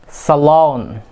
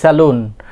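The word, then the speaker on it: salon: সালন। অনেকে আমরা অনেক সময় আমরা বলে থাকি কি স্যালুন, আমরা যে চুল কাটতে যাই এটা কি স্যালুন, এটা কি সালন, সালন, সালন।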